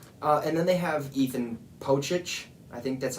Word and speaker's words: Pocic: And then they have Ethan Pocic. I think that's how you say his name. It's pretty much spelled like Doncic, like Luka Doncic for basketball, but it's Pocic.